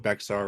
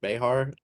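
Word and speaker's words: Bexar: uh It's not pronounced Beexar, right? Okay. It's pronounced like Behar.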